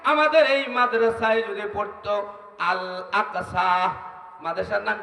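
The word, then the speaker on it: الأقصى: আরে বড় কাব উচ্চারণ করেন, আল আকসা।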